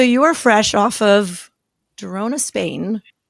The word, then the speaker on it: Girona: So you are fresh off of Girona, Spain. Am I pronouncing Girona correctly? Girona, yeah, exactly.